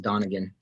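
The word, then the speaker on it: Donigian: okay exactly it's spelled don niggian but it's pronounced donegan okay i think that was what i was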